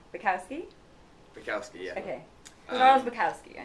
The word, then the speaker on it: Bukowski: Did I pronounce that right? Bukowski. Bukowski? Bukowski, yeah.